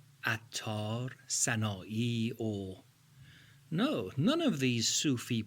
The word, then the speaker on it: و: Or means and. As I said in lesson 1, in most cases the right pronunciation is or, not va.